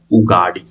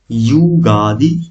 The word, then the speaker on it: उगादी: हम बोलते हैं क्या, उगाड़ी या उगादी, युगादी, या इसको और एक नाम से, मतलब उगादी ही बोलिए, बस इतना प्रोनाउंसिएशन रखिए तो आपको एग्जाम में काम हो जाएगा, ठीक।